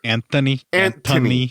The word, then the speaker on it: Anthony: So, but he makes sure you have to pronounce it Anthony. Actually, it's Anthony. The H is silent.